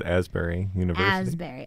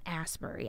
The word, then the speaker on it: Asbury: of your college if it was Asbury okay I was looking at it like it's not a spur II I know and